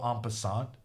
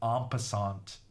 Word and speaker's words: en passant: And that was an en passant checkmate. Or apparently I'm pronouncing it wrong. This T is silent, someone said. En passant. En passant.